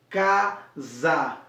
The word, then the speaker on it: casa: Quando o restante da palavra casa, como você vai falar casa, esse S acaba sendo no fonema com som de Z, casa, e não caça, já que é um S que se escreve casa, né? C-A-S-A, mas na fonética acaba sendo o Z. O som que sai na nossa fonética é o Z, casa.